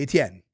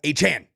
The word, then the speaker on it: Etienne: It should be Etienne. There you go. I can do that. That's the French Cajun Creole pronunciation. Etienne, not Etienne.